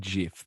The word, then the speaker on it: GIF: recoil when he said jiff yeah it's i call it gif as well but it is jif that is like the pronunciation that the creators intended so nice to each